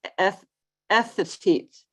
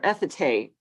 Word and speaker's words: Ethete: And anyway, it's Ethete or Ethete, Wyoming, is how it was presented to me.